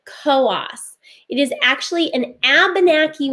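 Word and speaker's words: Coös: located here here is coast county now i know it looks like it says coos but here in new hampshire we pronounce it koas it is actually an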